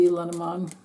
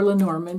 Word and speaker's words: Lenormand: I'm using Ryan Edwards maybe lenamon or lenorman if you want to pronounce it that way or you can just